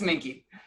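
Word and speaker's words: minke: the mink or minky do i pronounce the e at the end or not uh mickey yeah thank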